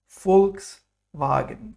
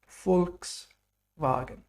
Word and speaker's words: Volkswagen: It's pronounced like V in German. So there's a special sound here. V is V, like fur. In the famous car company, Volkswagen, people's car, Volkswagen.